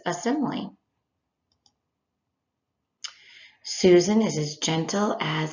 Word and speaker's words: simile: It looks like smile, but it's actually pronounced simile.